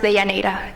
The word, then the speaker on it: Deyanira: It's pronounced Deyanira, just to let you know.